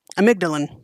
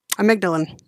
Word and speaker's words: amygdalin: VAR Amara also contains a cogenic het side amygdalan amygdalin really a m y g d a l